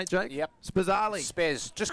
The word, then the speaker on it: Spazzali: Luke Spazzali, is that how you say it, Jake? Yep. Spazzali.